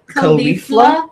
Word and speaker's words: Caulifla: So how was it pronounced then? Caulifla. Caulifla. Wiz Khalifa? Like Wiz Khalifa? Yes. Yeah. Like the rapper?